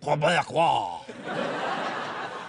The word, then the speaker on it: Québécois: There's a few simple tricks that we can perform to make sure that we really have a genuine Québécois. That's how you pronounce it.